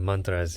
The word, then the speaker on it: mantras: And we talk about mantras and mantras, I believe is the actual pronunciation. But there's a lot of talk of mantras in yoga.